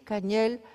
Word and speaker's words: cangel: que se es cangel se escribe cangel pero se dice cañael porque la g no tienen los mayas Por qué pienso que